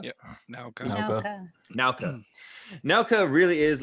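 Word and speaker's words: Naoka: Is it Nauka or Noka? Yeah, Nauka.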